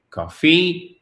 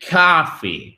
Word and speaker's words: coffee: Donc ce n'est pas coffee, mais coffee, OK?